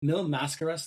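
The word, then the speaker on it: Mil Máscaras: There is like early on, like 10 or so minutes in, Destroyer knees Mascaras in the, is it Mil Mascaras?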